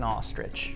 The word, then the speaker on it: ostrich: That is rare looking ostrich. I don't think you're pronouncing ostrich right.